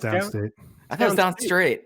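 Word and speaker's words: Downstait: No, it's Downstate. I thought it was Downstraight. Have we had this argument before? It's spelled like S-T-R-A-I-T. It's A-I-T. It's Downstate, but not S-T-A-T-E, S-T-A-I-T for whatever fucking reason.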